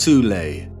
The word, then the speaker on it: Thule: Prior to the rise of the Nazi regime, there existed an occult secret society within Germany called the Thol Society, sometimes alternatively pronounced Thule, that had sub-factions within it.